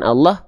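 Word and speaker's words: الله: Eh kenapa lamnya dibaca dengan seperti vokal O? Karena lam ketika lafaz Allah dalam kondisi tertentu dia dibaca tebal.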